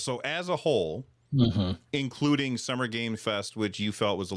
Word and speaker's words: Summer Game Fest: Yeah, well, so when I say Summer Game Fest, and by the way, you're saying it's Summer Game Fest, not Summer Games Fest, but I say it wrong every time.